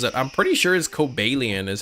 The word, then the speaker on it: Cobalion: the book according to the guidebook that shows the ways to say the name cobalian is the correct way yeah I remember trying